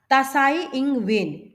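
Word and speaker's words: Tsai Ing-wen: आई तसा आई एन जी डब्लू ई एन तसा इंग वेन उन्होंने उसको बोला है अपना एक शोक प्रकट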